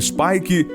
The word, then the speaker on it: Spike: Súbete a las olas hasta Spike Island (pronunciada Spaike), conocida como el Alcatraz de Irlanda y que alguna vez fue la prisión más grande del mundo.